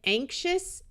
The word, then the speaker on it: anxious: XIOUS is also pronounced shus, like in anxious and obnoxious.